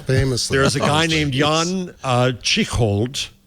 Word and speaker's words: Jan Tschichold: Meanwhile, famously there's a guy named Jan Tschichold. I'm going to mispronounce his name. Well, that's exactly. You pronounced it exactly correctly, though.